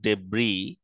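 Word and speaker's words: debris: collision ডেব্রি collision ডেব্রি এখানে এস উচ্চারণ হয় না এটা একটা ইন্টারেস্টিং শব্দ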